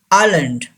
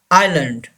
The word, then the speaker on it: island: Island. Island. S is silent here.